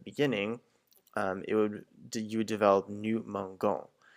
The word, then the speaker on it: mangeons: But because you want to maintain that je sound that's in the other types of verbs for manger, we have to add an e because the G just in front of the O makes a g sound.